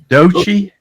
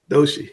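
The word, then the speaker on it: Doechii: A Kendrick Lamar, Brake, Cardi B, and I think this is Is it uh Doi? Doshi.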